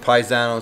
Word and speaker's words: Pisano: And everybody knows me as, because my name is Pisano. They pronounce it Paisano.